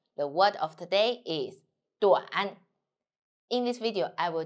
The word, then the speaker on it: 短: The word of today is 短. In this video, I will teach you how to pronounce it, how to write it, and how to use it.